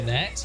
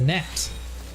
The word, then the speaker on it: gnat: You call it a ganat. It's a gnat.